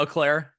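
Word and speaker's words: Eau Claire: of Wisconsin, out of Eclair. Is that how you pronounce that? Yeah, Eclair. Eclair? Okay. Yeah. Not Eclair. That's the dessert.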